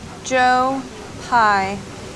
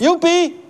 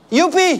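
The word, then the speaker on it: joepie: on here you go Joe pie that's a funny name actually it's pronounced Yi it's an expression of Joy Yi the equivalent of yay in English I'm cat some initial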